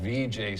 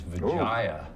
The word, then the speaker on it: Vijay: It's funny how many people still, to this day, call VJ Singh and mispronounce his name as Vijaya.